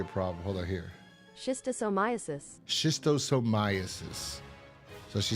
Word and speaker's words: schistosomiasis: Schistosomiasis. Schistosomiasis. So she says he's got schistosomiasis. How you pronounce that again?